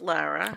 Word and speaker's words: Lara: Good, and it's pronounced Lara.